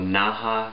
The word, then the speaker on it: NAJA: time the new one called the naha king it's n-a-j-a but you pronounce it and so um what